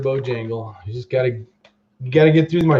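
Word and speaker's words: Bojangles: Mr. Bo Dingle. Mr. Bo Dangle. I know I'm not saying it right. It's Mr. Bojangle.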